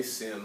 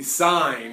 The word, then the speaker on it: sine: SI in you know please don't say sin I might pick on you a little bit all right it is the sine of angle a alright it